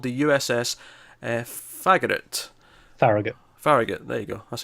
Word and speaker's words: Farragut: Farragut. Farragut, there you go, that's how you pronounce it.